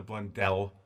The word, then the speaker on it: Blundell: Actually, Dave, it's Blundell. I don't know how they do it here. That's cool. That's just the way he pronounces it.